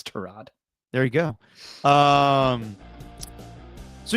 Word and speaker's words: Tyrod: game came to him against the Jets against Todd. Just want to ask you about what you remember about playing with him your first year in Cleveland. It's correctly pronounced Trod, but he doesn't correct people.